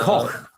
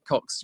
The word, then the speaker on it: Koch: No, it's Robert Koch who first identified it in the Pasteur Institute. You're talking about Koch. K-O-C-H. Yeah. Yes, you're talking about that, Cox. Well, it's my northern pronunciation.